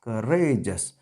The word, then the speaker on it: courageous: Courageous. So the word stress will come before R, and so this R will be pronounced with great force.